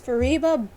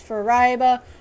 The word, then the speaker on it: Fariba: For instance, my name is Fariba, but people will mispronounce it as Fariba, or even worse, Farbia.